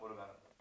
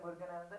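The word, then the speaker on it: Muruganantham: Have I said it right? Arunachalam Muruganan. Arunachalam Muruganandan. I need to say this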